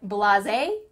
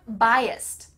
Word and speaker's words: biased: but of course I'm but of course I'm blase but of course I'm biased which of these B words is the correct